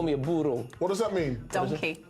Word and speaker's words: burro: Un burro. Burro. Hey, leave my dad alone, you donkey. I've never really been good at rolling my R's, but that was okay. Burro. Burro. Burro. Yeah. Rhymes with churro.